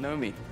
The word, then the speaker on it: Naomi: Meet Nomi. It's spelled Naomi, pronounced Nomi.